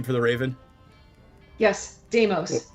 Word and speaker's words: Deimos: Deimos the Raven It is sounds just like Ray Lewis. No, it's Deimos. spelled Raylews. Yeah. Well, just like that. All the other letters are silent. The Z is silent. It's the Greek god of terror.